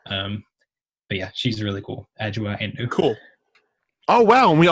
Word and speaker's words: Adjoa Andoh: So the correct pronunciation is Adjoa Andoh.